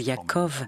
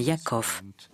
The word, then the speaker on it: Yaakov: au japon alors que cela devait être prononcé non plus yaacov mois mais yaakov aux provinces aux juges